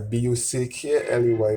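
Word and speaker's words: Bulkeley: Buckley is spelled B-U-L-K-E-L-E-Y. Many people spell it as B-U-C-K-L-E-Y, but it is spelled B-U-L-K-E-L-E-Y. Buckley. Buckley.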